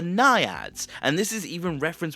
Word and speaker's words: Naiad: But what goes even further is that even though her name is pronounced Niad, her name actually is derived from Greek myth, and it's actually pronounced the Naiad.